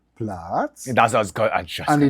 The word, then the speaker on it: Platz: There is a reason why a dog goes down fast when you say Platz. Yeah. Because the sound is like blah.